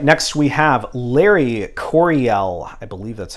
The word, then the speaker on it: Larry Coryell: happens with that all right next we have Larry Coryell I believe that's how you pronounce his name and it is introducing the